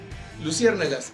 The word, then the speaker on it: luciérnagas: Luciérnagas aquí no se cuenta como 5 sílabas, se cuenta como 4, porque es una palabra esdrújula.